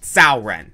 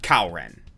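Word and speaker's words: Cao Ren: we find the indomitable sao ren and that's pronounced sauren not kauren in history sao ren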